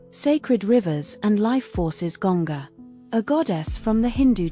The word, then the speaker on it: Ganga: Primary domain cosmic order secondary domain wisdom transmission pronounced sarishi sacred rivers and life forces gonga a goddess from the Hindu tradition. Primary domain purification. Secondary domain sacred river pronounced Ganga Yamina a goddess from the Hindu tradition.